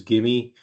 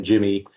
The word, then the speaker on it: GIMI: The pronunciation is GIMI. We had some challenges early on. Some people calling it GIMI, some people calling it Jimmy, but it is GIMI.